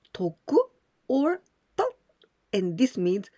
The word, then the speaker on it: 特: We pronounce toku or to, and this means special.